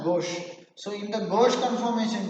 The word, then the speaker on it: gauche: but in gauche conformation even the spelling is g-a-u-c-h-c we pronounce at gauche so in the gauche